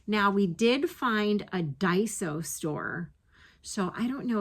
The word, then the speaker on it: Daiso: Now, we did find a Daiso store So, I don't know if you guys ever watch Kim the Crafty Nomad.